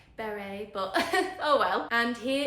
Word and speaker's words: Béri: English accent pronouncing Barry I do believe it's meant to be more like Beret but oh well and